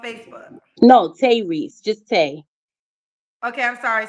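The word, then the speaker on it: Tae: Reese on Facebook no Tay Reese just Tay okay I'm sorry spell it one more time T a e t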